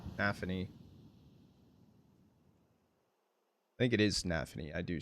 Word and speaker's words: nafany: I think it is Nafany. I do say Nefanni. And I think it's just because of pronunciation. It's easier for me.